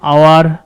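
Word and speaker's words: hour: দেখো an apple, an আওয়ার, এখানে এইচ থাকলেও এইচটা উজ্জ্ব থাকে, উচ্চারণে আসে না।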